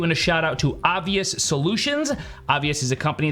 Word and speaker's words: obVus: It's spelled O-B-V-U-S, so if I say obVus, obviously I'm mispronouncing it. I know it's obvious.